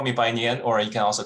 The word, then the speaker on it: Bainian: good evening everyone uh my name is uh by nian actually so chinese might change my last name so yeah you can call me by nian or you can also call me brian if